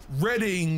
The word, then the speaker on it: Reading: fun to say though redding even though it's spelled reading yeah that's not i